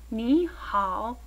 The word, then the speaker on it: 你好: Here you'll see that ni is pronounced ni, and that ao gives you the ow sound, as in hao. Ni hao.